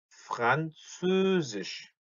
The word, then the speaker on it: Französisch: 왜라고 소리를 하면은 오에가 되면서 입이 장옆으로 벌어지는데 여기서 말하는 옴라우트는 입이 벌어지지 않기 때문에 으 다시 한번 그래서 Französisch, Französisch, Deutsch und Französisch, Deutsch und Französisch 요렇게 발음을 합니다.